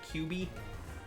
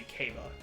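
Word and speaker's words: Q'be: Because it was pronounced Q apostrophe, or it was written Q apostrophe BE. And it's supposed to be Kaba. But I said QB. I did it phonetically instead of like how I actually wanted it to be said.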